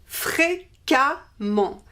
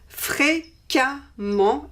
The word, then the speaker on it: fréquemment: the masculine form and we replace the ent by ement, and we pronounce this amant, amant. So we have fréquemment. Fréquemment is the adverb frequently, fréquemment.